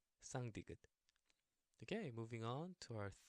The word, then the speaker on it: 쌍디귿: You know how the number in Spanish, uno, dos, tres, tres, yes, that t. And tú, yes, y tú, tú. Okay.